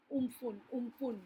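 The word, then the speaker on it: Amphan: COVID was pushed back, into the backdrop of another fear lurking behind, while we were coping with umpun. Now that's how we pronounce it, meaning the sky in Thai.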